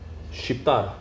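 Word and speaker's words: Shqip: way to say Albanian how do you say it in Albanian ship ship ship exactly ship exactly man and what does that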